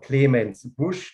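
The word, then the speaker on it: Clemens Busch: the mosul valley the wine estate is called clemens bush just so do you hear the word pronounced correctly for once it's this one isn't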